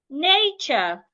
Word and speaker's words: nature: So, let's take word examples. So like ch you can have words like cheat nature.